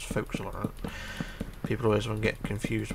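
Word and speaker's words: forecastle: so if you ever see four castles actually pronounce folks all around people always get confused with that one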